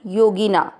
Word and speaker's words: योगिना: सहित सीखेंगे पहला चरण योगी ना घी की मात्रा छोटी है लंबा नहीं खींचने है योगिना मामी अमित का नंबर